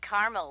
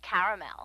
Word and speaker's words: caramel: I said Tina actually you said caramel when it's pronounced caramel can't we just call